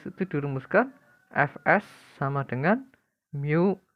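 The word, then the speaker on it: μ: Fk sama dengan mu k dikali dengan n, itu yang seperti huruf M itu dibacanya mu.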